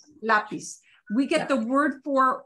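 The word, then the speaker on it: lápiz: to it so it should just be a flat out flat s sound so we get words like oh the word for pencil this sep frequently is word lapis so we don't want to pronounce that lapis it's lapis we get the word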